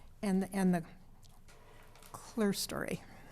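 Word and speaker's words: clerestory: And the And the clear story.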